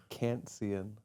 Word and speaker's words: Kantzian: Is that how we pronounce it? It's Kantzian.